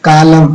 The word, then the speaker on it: column: On that lovely autumn, autumn नहीं होता, autumn, column, autumn.